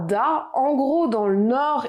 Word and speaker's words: da: Il se prononcera da, en gros dans le nord et dans le sud-ouest.